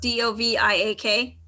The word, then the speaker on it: Doviak: And that's, I'm going to say her name wrong, Doviak, D-O-V-I-A-K.